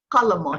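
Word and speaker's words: قلمٌ: that un sound or tun sound if it's an indefinite word.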